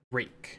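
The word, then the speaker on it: Rejk: We have Hubert Rake, is how I'm told his last name is pronounced.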